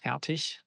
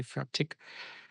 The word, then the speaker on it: Fertig: Um it's fatic. And um I'm known for pronouncing it wrong myself. I tried hard to to do it right this time because usually I say fatic with a hard K in the end and that's not proper German.